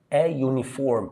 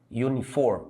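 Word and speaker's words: uniform: تور يجب ان يلبس يونيفورم الزي اتنطقت ي ي يونيفورم اتنطقت ي اهي ي في الحاله دي ناخدها بالصوت تاخد اي اي اي يونيفورم ماي نيبر جاري اونست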